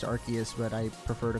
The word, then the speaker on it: Arceus: at the moment and yes I know it's pronounced Arceus but I prefer to call it our siesta that's what I've always been calling it and